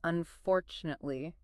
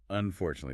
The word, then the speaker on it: unfortunately: The stress is on the second syllable. Four. So, try to break it down into smaller chunks. Unfortunately.